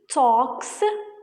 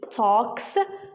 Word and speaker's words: talks: the base form she talks very fast she talks very fast here i pronounced it as talk talk not talk the l is silent here she this is the